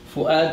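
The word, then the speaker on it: فؤاد: Fu'ad is one. Is a hamza here.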